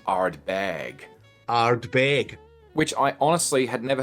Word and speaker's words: Ardbeg: Bill Lumston the last time and his way of pronouncing arb bag arbag which I honestly had never heard anyone else say but I love it anyway.